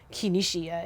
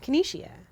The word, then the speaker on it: Keneishia: You don't say Keneishia. It's Keneishia. And that's it.